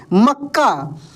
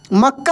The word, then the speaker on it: मक्का: उसके बाद देखेंगे दोस्तों यहां पर लिखा है प्रसन्न प्रसन्न न पे क्या लगेगा जोर लग रहा है तो प में पदेन र की मात्रा स और नन संयुक्त यानी जिस अक्षर पे जोर लगता है वो उसमें आधा और पूरा वही अक्षर होता है जैसे मक्का मक्का हम